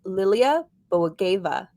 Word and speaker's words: Lilia Bogoeva: Today's special guest is Lilia Bogoeva. That's how you pronounce it.